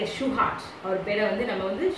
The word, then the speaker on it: Shewhart: Walter Andrew ஷிவார்ட், pronounced like a Shewhart, அவர் பேரை வந்து நம்ம வந்து ஷிவார்ட் சொல்ல மாட்டோம், Shewhart, was an American physicist, engineer and statistician, sometimes